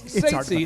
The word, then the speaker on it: Ceitci: The whole thing, it's hard to pronounce here, but it's Ceitci.